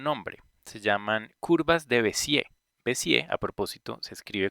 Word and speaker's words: Bézier: Pero bueno, el caso es que la pronunciación viene del francés y en francés las palabras todas son agudas y cuando terminan en R no se pronuncia la R, por lo tanto se pronuncia Bézier.